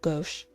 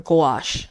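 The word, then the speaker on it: gouache: to her technique, splattering dollops of goch or gash, I've been saying it wrong. Gash. Go is a different word.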